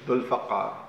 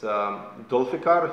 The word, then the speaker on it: Dulfaqar: My real name is Dulfaqar. That's how you spell it in Arabic, but it's Dulfikar if you want to, make it an English possible pronunciation.